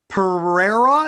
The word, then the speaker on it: Pereira: the next one is sean strickland versus alex pereira is that how you pronounce it yes now this guy's super interesting